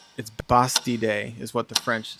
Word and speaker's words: Bastille: Okay, Americans might pronounce it Bastille, but it's Bastille Day is what the French say.